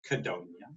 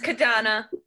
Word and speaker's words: Kadana: I have with me, as always, Kadonia. It's Kadana, like Madonna. Oh, Kadana. I said it wrong, my bad.